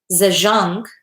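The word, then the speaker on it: Zajonc: but years later robert zajonk in 1965 and 1980 saw a way to reconcile the contradictory results by integrating research from experimental psychology with social psychological research zhang is pronounced to rhyme with signs i don't know they've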